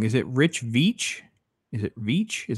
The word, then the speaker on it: Veitch: And I know, I may say his name wrong. Is it Rich Veitch?